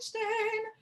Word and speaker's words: stehen: So ein Knopf, ein Roslein stehen, Roslein auf der Heide. Yes. That's better. And watch stehen, you don't make a diphthong.